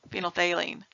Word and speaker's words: phenolphthalein: is phenol that phenolphthalein I'm mispronouncing it horribly phenol baleen there we go phenolphthalein so yeah it's kind